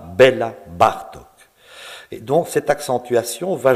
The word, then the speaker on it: Béla Bartók: L'accent tonique ne se place pas comme dans la langue française, il se place bien plus volontiers sur la première syllabe du mot. On dira Béla Bartók.